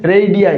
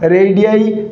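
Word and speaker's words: radii: कैसे होगा pronunciation, रेडियाई। क्या होगा, रेडियाई।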